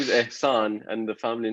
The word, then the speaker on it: Ehsan: pronounce anything well like it's kind of kind of hard to pronounce the S is right after H so it like confuses everybody it's like oh that's spelled um name isan and the family name